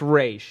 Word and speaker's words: Ra's: It's Raish.